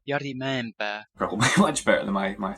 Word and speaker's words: Jari Mäenpää: I'm not too sure how to pronounce his name, but the guitarist from Winter Sun, I think it's Jari Mäenpää. The internet pronunciation says this. Jari Mäenpää.